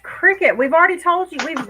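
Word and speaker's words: Cricut: And C U T is cut. It's pronounced cricket.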